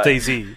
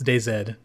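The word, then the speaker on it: DayZ: we should just leave no and he he pronounces it as d z so okay oh he pronouncing it wrong yeah he's pronouncing it wrong it's day Zed so dayed stressful is it I hate new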